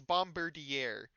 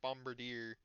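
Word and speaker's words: Bombirdier: It's It is Bombardier. The deer is const is commonly missed because I I used to say bombard deer.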